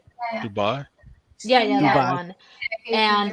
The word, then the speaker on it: Dubai: Yeah, no, the steak for How Molly Berg basically made a video and then she's apparently in Budai, I think is how you say the country. Dubai.